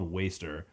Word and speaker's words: WSTR: I didn't know how to pronounce their name for the longest time because the band is just WSTR. And then when like looking it up, because I didn't want to just say like I don't know how to say this. So it's actually their band name is called Waster.